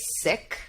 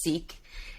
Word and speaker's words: Sikh: so I am a sick and when I say sick my faith is called Sikhism or Sicky oftentimes in the US and Canada we hear it pronounced as seek and Sikhism we're trying